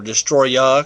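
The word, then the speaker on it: Destoroyah: a bigger Destroyer figure, or Destroya, because that is actually how it's pronounced and spelled.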